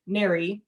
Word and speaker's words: NARI: Also within NARI, that's how we pronounce that acronym, certifications among the industry are very, very important.